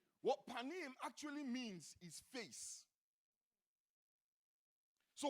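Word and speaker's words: פָּנִים: presence comes from a Hebrew word that is pronounced panim don't your and say panim what panim actually means is face so what the Lord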